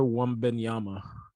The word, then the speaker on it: Wembanyama: I mean, how do you pronounce his full name? Victor Wembanyama? Victor Wembanyama.